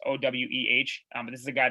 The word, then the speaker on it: Oweh: I don't even know how you pronounce it. It's Oweh.